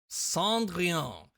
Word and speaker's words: Cendrillon: Cendrillon. It's French, and therefore it's pronounced like that.